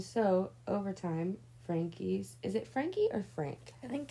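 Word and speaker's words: Franke: overtime Frankie's is it Frankie or Frank I think it's Frank I think the E is silent okay then we'll just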